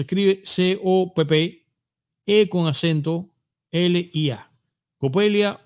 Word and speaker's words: Coppelia: La idea del nombre, señores, es muy bonita porque Copelia, ya yo vi que alguien estuvo comentando y